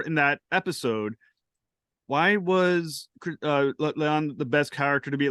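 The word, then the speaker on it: La'an: And it's a tremendous episode, and it's focused on Christina Chong's character, Leon. I'm saying that right. Yeah. Beyond the backstory developed for her in that episode, why was Leon the best character to be like the surrogate for this episode?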